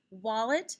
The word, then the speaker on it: wallet: when we say it wallet has an l after the a so it sounds like ah it also has a